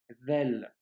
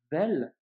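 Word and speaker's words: ذال: En revanche, quand tu prononceras la lettre vel, eh bien, ta langue doit sortir légèrement et tu dois la faire toucher tes dents, tu vois.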